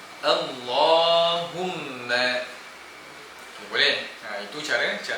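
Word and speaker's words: اللهم: Jadi kita baca dengan tebal dan dua harakat panjangnya tuan-puan. Allahumma.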